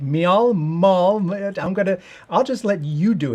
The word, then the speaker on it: Miall: Miall. I'll just let you do it and bring on right now. Hey, Anthony, it's Miall.